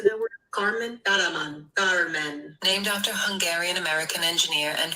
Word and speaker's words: Kármán: Kármán.